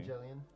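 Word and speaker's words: Evangelion: Like I've heard people pronounce the name of that anime differently. Evangelian.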